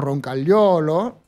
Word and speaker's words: Roncagliolo: un poquito el tema cuál es la producción correcta en italiano es algo así como roncagliolo ya pero eso se